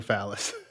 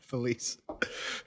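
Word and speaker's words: Falyse: Jeff always calls her Phallus. Yeah. Felice.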